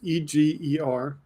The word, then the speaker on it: Eger: Edith Eger, I believe is the way it's pronounced, Eger.